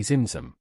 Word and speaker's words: Tzimtzum: The Ein Sof, meaning limitless light, contracts through a process called Tzimtzum, pronounced phonetically Zimzum, at the start of creation to allow room for divine expansion.